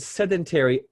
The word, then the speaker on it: sedentary: But when you pronounce the word sedentary in isolation, we pronounce it like what we call the dictionary pronunciation, sedentary, or if you're British, sedentary. But when you hear that in spoken English, it never sounds like sedentary.